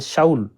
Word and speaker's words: Saul: Voilà pourquoi ça s'écrit S A U L. C'est shaou.